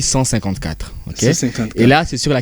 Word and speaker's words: CLIV: chiffres romain ok exactement on écrit troupe Clive mais on lit 154 et là c'est sur